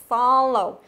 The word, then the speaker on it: follow: Động từ có hai âm tiết thì thường là trọng âm rồi âm thứ hai. Tuy nhiên cũng có một số ngoại lệ, cụ thể là phương án D này, chúng ta đọc là follow âm thứ nhất, được chưa?